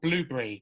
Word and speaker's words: Blubrry: I use a platform called Blueberry, but it's spelled Blubrry.